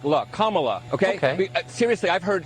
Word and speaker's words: Kamala: say one quick thing her name is pronounced comma like the punctuation mark look kamala okay okay seriously i've